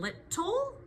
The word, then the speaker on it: little: So in little the tricky parts are the two t's and then the silent e at the end.